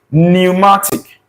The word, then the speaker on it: pneumatic: This P in option B here is silent. For if you are articulating this word, you are pronouncing this word, the P is not pronounced. The pronunciation begins with this N, pneumatic.